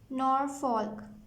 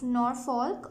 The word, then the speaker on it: Norfolk: Norfolk. You can pronounce it like Norfolk or Norfolk, both ways.